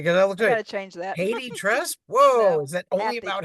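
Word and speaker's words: HathiTrust: I gotta change that Haiti trust whoa is that only about Haiti I think it's a lot of people pronounce it hotti trust and so that's right I have or hoy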